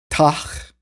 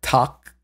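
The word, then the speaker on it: Tag: And then in Old High German, we have Tach. Well, really more like Tak. Talk. My pronunciation is very much influenced by like Niedersächsisch, like Lower Saxony High German. So yeah, so it's technically talk, not tach.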